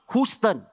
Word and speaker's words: Houston: are you you but h-o-u-s-t-o-n not Houston Houston not fair English language ah please